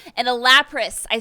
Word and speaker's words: Lapras: You get an EV arc, which increases the maximum battery charges by 1, and a Lapras. I said it right, Lapras.